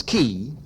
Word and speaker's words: Kay: So in Vietnam, in Saigon, and I want to give compliments to this very brilliant young woman, Catherine, K-A-Y, pronounced Catherine Key, however, pronounced Key.